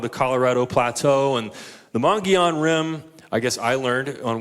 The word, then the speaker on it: Mogollon Rim: right, my wife tried to teach me to pronounce it right. It's called the Mogollon Rim. Does anybody know what I'm talking about? So we're known for the Grand Canyon, but the Mogollon Rim is probably the most influential geological feature in Arizona.